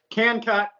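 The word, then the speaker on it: KNKUT: Can Cut, which is spelled K-N Cut. So it's K-N K-U-T.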